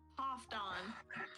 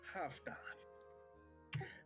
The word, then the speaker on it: Halfdan: Half dawn. I'd rather not. Half done. Half done. You pronounce the L, but we we'll get to we're going to have a vocal lesson one day.